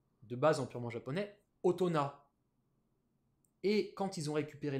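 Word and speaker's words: 大人: Purement japonaise, otona. Tu peux même pas le prononcer avec...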